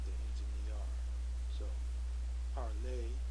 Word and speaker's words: parler: So, parler, P-A-R-L-E-R, and parler, E with the accent. They're both pronounced parler.